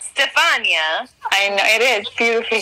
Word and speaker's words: Stefania: Do people butcher your name? Yeah. Really? Stefania. Stefania. Stefania. I could see people saying Stephanie because they are stupid and say it.